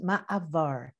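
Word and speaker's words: מעבר: Did you know that the Hebrew word for transition is pronounced ma'avar?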